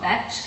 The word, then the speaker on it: Betch: I'm on this show, it's called Betch, and called Betch because it rhymes with sketch, and it's sketch comedy with betches because they're girls.